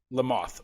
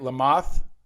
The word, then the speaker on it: Lamothe: episode with lamothe did i say it right lamothe le mans like the bug like the bug there